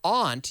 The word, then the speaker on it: aunt: pronunciation of aunt and aunt as in or MIGA no now aunt you could say aunt aunt aunt aunt it's take your pick aunt or aunt you can say it either way but